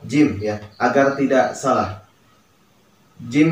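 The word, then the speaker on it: ج: Jim ini kalau di alfabet Indonesia lebih condong ke huruf J ya. Nah, dan jim ini merupakan qalqalah. Jadi harus ada pantulan ya, ada disisakan ya.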